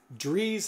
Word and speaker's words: Dries: and he said, well, you pronounce it like Dries or Dries. So that's, it's like... Okay. Yeah. Dries, like trees. Yeah. Rhymes with trees?